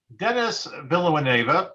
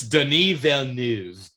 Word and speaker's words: Denis Villeneuve: So, Dennis Villeneuve for Dune And you Part didn't. Whatever. I don't care. It's Denis Villeneuve. You know what? Whatever. Yeah, because he's French, not Spanish.